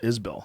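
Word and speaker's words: Isbell: How do you how do you say Isbel? Yeah, that's the right way to say it.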